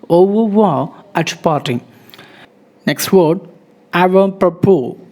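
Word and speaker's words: avant-propos: Next word, avant propos. T is silent, S is silent.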